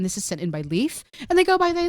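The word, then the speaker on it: Leif: God life wasn't it what's that yeah called Leaf called Leaf yeah what's that who oh here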